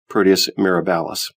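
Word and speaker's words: Proteus mirabilis: strong link exists between Proteus marabous microbes and rheumatoid arthritis Proteus marabis can also be pronounced Proteus miralis we proposed that subclinical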